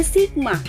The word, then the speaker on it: sigma: Jadi yang seperti huruf E itu dibacanya sigma.